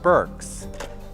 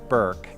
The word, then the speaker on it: Burks: proper names for example robert burks not robert burke is sculptor of the